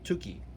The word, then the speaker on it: Tukey: mathematician's statistician called john tukey it's like turkey without an r tukey t-u-k-e-y at least i think